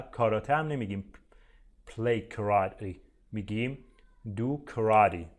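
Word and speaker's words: karate: رو هم دقت کنید کاراته نیست ما توی فارسی معمولا اونجوری که نوشته شده میخونیمش کاراته میخونیم اما تلفظش کراری کراری اون تی آخر توی انگلیسی امریکن معمولاً وقتی که تی بین دو تا حرف صدادار قرار میگیره اینجا ببینید بین ا و ای هست شبیه د تلفظ میشه میشه دو کراتی یا دو کراتی اونم میشه ولی امریکنا بیشتر میگن کراتی خب یه سریا هم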